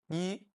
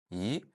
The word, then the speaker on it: 一: First tone, yi, when alone or at the end. Second tone, yi, when before a tone 4 character. And then fourth tone, yi, before all the other characters.